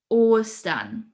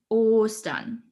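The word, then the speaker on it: Ostern: as a little skates easter in german is austen or stun so we have a long stretched o sound in the beginning or stun okay spring is dare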